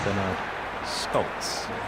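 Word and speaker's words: Bernard Scholtz: Reliably informed that the correct pronunciation is Bernard Scholz.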